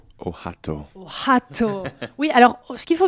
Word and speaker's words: Ohotto: C'est comme ça qu'on prononce son prénom ? Ohato. Ohato.